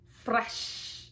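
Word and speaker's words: fraîche: this word right here it's pronounced fresh in French so if you're French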